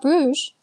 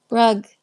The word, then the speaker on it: Bruges: And they said, "It's not Bruges. It's not pronounced like French. It's pronounced like like uh Brugge or something.